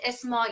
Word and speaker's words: Esmail: Uh, I pronounce it Esmail in Esmail. Persian.